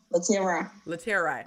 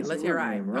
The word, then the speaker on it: Laterai: Latera. Okay, I'm always so scared to say your name wrong. Terai. Okay, Terai. Long I. Laterai.